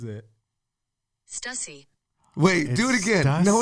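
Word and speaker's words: Stüssy: Do not say Stussy, but rather Stussy.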